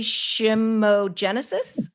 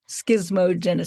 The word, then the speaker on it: schismogenesis: I'm not going to say it right, complementary shimogenesis. How do you say it? Schismogenesis.